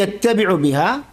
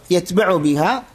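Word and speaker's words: يتبع: യത്തബിഉ ബിഹ എന്നും രണ്ട് ഉച്ചാരണ രീതിയുണ്ട്. ഒന്നുകിൽ യത്തബിഉ ബിഹ, ഷദ്ദ് കൊടുത്തിട്ട് വായിക്കുക, യത്ബഉ ബിഹ, രണ്ടും ഒരേ അർത്ഥമാണ്.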